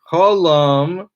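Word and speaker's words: holam: of the written word hollam is an o sound column uh inscribed is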